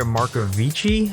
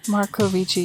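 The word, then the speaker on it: Marcovicci: film stars michael moriarty andrea marcovici i believe is how you say it markovici yeah sounds like it um garrett morris and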